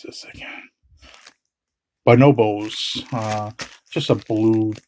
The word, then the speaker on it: Bonobos: This is a no, how you pronounce this again? Bonobos.